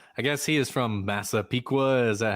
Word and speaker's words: Massapequa: I guess he is from Massapequa. Is that how you pronounce where he's from?